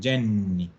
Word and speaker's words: Jenny: Entonces, ese nombre, que nosotros le decimos Jenny, en italiano le dicen Jenny, con doble N, Jenny.